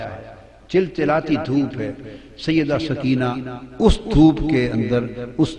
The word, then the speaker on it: سکینہ: امام حسین کی پیاری لخت جگر شہزادی سیدہ سکینہ، اصل نام ان کا عربی وزن میں سکینہ ہے، عرف عام میں سکینہ چلتا ہے، مگر